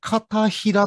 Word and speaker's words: 帷子: しれませんが実はそうではなくて片平と読むんだそうで